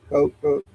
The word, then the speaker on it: Koch: On board with him are pilot Victor Glover, Christina Koch, or Cook, that could be pronounced different ways. Cook, and Canada's Jeremy Hansen.